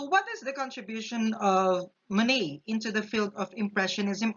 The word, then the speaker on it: Monet: name of this man is cloud Lonnie it pronounced as many because it is a French word so definitely he is a French so what is the contribution of money into the field of Impressionism art Impressionism art